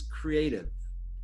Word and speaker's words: CREATV: The inaugural Creative University, and if you guys were all wondering how you pronounce the name, it's Creative.